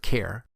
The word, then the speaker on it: char: at the Primitive type Char in the character class that has a collection of useful methods the Char data type and again some people might pronounce it care is a primitive type